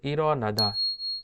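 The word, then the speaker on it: 일어나다: রিওলটা young এর কাছে চলে যাবে এবং রিওলটা নিচে থাকলে ল এর মতো উচ্চারিত হতো, রিওলটা উপরে চলে যাওয়াতে র এর মতো উচ্চারিত হবে।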